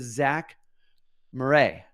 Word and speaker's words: Zack Morray: Now, let's get into the show and I'm hanging out today with Zack Morray. Did I say it right? That's right.